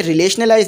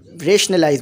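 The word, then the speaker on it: rationalize: रिलेशनलाइज नहीं बोलिएगा, रेशनलाइज बोलिएगा, ठीक है। रिलेशनलाइज नहीं होता, रेशनलाइज होता है सही प्रोनाउंसिएशन।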